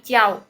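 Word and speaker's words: jiao: j i a o j i a o itu bacanya bukan jaiau ya tapi ciau j-nya diganti C ya z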